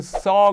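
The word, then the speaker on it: saw: 바로 씨의 과거 0인 써 가 바로 이 바랍니다 지금까지 이 씨의 과거 형을 여러분은 어떻게 발음 하셨나요 혹시 쏘아이 쏘 유 라고 하셨나요 안됩니다 이제부터는 네이티브 발음 써 로 발음을 하셔야되요 우리 세 번 연속한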